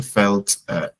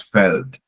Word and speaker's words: Feld: Okay, but in German it's das Feld. In German, felt E. There's no I in field. Okay, but it's the same field in English. Okay, so that's felt.